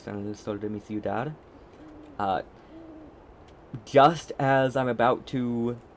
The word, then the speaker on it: ciudad: So, listening to that, normally I would have said, like, ciudad, but ciudad. Ciudad is how that C is pronounced.